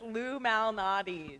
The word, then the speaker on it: Lou Malnati's: It's Lou Malnati's. Lou Malnati's. Thank you, Lou Okay. Malnati's. How do you And spell it?